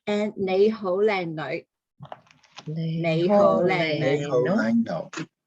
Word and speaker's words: 你好: two syllables, right? And 你好，靚女. Leho.